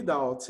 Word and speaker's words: doubt: Não, acho que eu falei, mas I really doubt. I really doubt. I really doubt. Pronúncia, Silvia? Doubt. Doubt. Doubt é duvidar? Duvidar. Doubt. Você fala desse jeito, né? Esse O, o B vai virar ao.